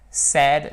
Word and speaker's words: said: To say, said, said. Attention, c'est say avec la diphtongue, say, comme le A de oser, said, said. Ici, ça se prononcera quasiment comme le est français en fait.